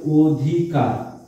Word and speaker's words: অধিকার: অ এর উচ্চারণটা ও এর মতো হয়েছে, তাই এটা সংবৃত। যেমন আমরা আরেকটা জিনিস বলতে পারি অধিকার।